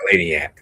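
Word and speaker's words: Eleniak: Eleniac.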